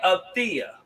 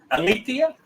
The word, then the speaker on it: Alethea: if I sit there and I holler at Althea, is that how you pronounce that name? Althea? Alethea? Yes, sir.